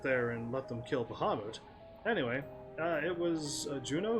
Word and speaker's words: Bahamut: this game Sid doesn't know who Bahamut is Bahamut if you want to say it correctly I